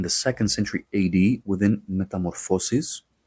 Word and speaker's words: Metamorphoses: Singular, Metamorphosis, so it's mo and then the plural is Metamorphoses, so it goes on the fo.